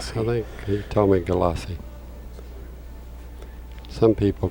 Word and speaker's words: Gulyassy: The score right now is uh Grady Matthews eight and Mike Golierce is six. Glossi. Galassi.